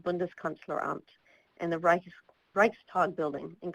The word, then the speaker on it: Bundeskanzleramt: It got its name from the uninhibited view of the German Chancellery, which is called Bundeskanzleramt, and the Reichstag building. And Karina, please correct my pronunciation if I should be saying this differently.